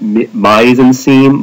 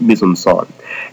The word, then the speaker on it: mise en scène: It looks like it's pronounced mise en scene. No, it's French, so it's pronounced weird. It's pronounced mise en scène.